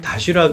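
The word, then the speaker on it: Доширак: 가보신 분들은 알 텐데요 러시아에서는 다쉬락이라고 많이 발음들을 하더라고요 이게 8도에서 만드는 도시락 컵라면을 말하는 건데요 러시아 쪽에서는 다쉬락 그 컵라면으로 고유 명사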